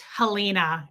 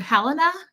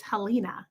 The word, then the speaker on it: Helena: I FaceTimed with her a few days ago and she said like people in the UK pronounce it Helena and hers is the Irish pronunciation. It's Helena and I think that's so beautiful.